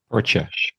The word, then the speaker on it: percha: How do you pronounce it, Percha or Percha? Percha.